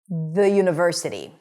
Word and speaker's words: university: Even though it starts with a vowel letter, it actually starts with a consonant sound - y, 'y' is a consonant. th'yuniversity.